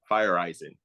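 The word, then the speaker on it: Feyereisen: So pronouncing it is Fireisen.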